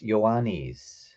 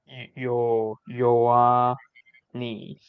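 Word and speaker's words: Ιωάννης: But in Greek, it's Ioannis. Ioannis. Yeah. Okay. So that HI A is like Yoa.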